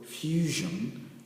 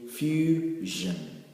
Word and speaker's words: fusion: we can say that words that end with S-I-O-N will not be pronounced as shon, but rather as jen. Now let's look at this other example, fusion. We can say fusion, jen, and you get